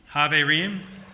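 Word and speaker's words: חברים: I'm going to guide us in a little pronunciation. So, shalom. Shalom. Haverim.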